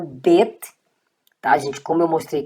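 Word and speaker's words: בית: O nome da letra é bet, tá, gente? Você lê vet só para questão de didatização. É uma questão pedagógica para que você memorize o som. Bet, tá aqui, bet equivale a B. E ele sem o ponto, você vai ler vet e equivale à letra V.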